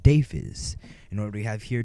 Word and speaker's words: Deiphiz: As you can see, my name was in the intro, and it is pronounced Deiphiz.